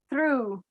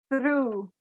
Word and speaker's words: through: So this is pronounced through. Try and say it through.